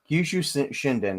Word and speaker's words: Kyushu Shinden: Yeah, Kyushu Shinden. I I mis I mispronounced it earlier.